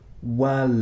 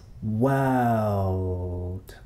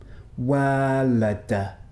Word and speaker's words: world: word difficult is because it contains what linguists call a dark L. The dark L is like this, not like this, L. So we don't say world. That would be wrong. It's world. World.